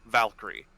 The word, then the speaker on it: VA1KYR13: Valkyrie paladin, and its name is VA1KYR13, or Valkyrie. It was VR. Say the name again, because sorry, VA1KYR13. VAR1. No, VA1. VA1. KYR. KYR. 13. Valkyrie. Valkyrie. Yeah, I see it now. Valkyrie spelled with numbers.